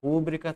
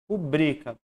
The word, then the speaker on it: rubrica: Rúbrica, todas as proparoxítonas são acentuadas. Não tem. Então vai cair para paroxítona, que é essa sílaba aqui, né? Rubrica. Se fosse rúbrica, ela seria obrigatoriamente acentuada e não é.